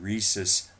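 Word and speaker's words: Rhesus: It's called the Rh factor because it was first discovered in studies using Reese's monkeys. This isn't Reese's like Reese's peanut butter cups. Uh it's spelled very different. It's spelled with an RH.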